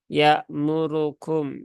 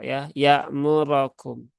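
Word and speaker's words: يَأْمُرَكُمْ: Roknya itu dibaca fathah ya, bukan dibaca dhammah. Memang di sini seringkali tanpa disadari ya terbacanya dhammah ya murukum ya, harusnya dia dibaca fathah menjadi ya muro ya murokum.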